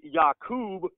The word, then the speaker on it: Yaqub: And Yaqub has always been the proper pronunciation of this name long before the English pronunciation Jacob ever was used.